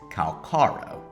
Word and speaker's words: Calcharo: If we take it how the English voice actor says it, then it's Calcharo.